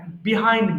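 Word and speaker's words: behind: বিহাইন্ড মি। আচ্ছা, আমি একটু লিখে আপনাদেরকে বোঝাই। হ্যাঁ, আচ্ছা, there is a pond বিহাইন্ড, এইটাকে দুই ভাবে উচ্চারণ করতে পারেন। বিহাইন্ড হয় আবার বাহাইন্ড হয়। বোথ প্রনাউন্সিয়েশনস আর কারেক্ট।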